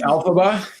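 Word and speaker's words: Elphaba: It's It's Alphaba. Alphaba.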